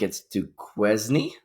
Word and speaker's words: Duquesne: I don't know how to pronounce the school. I think it's Duquesne.